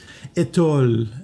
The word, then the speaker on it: étole: Alors, pour le prononcer comme il faut, c'est étole. Toi, mon étole, mon étole. Hein? Il y a une petite diphtongue qui est intéressante, à utiliser.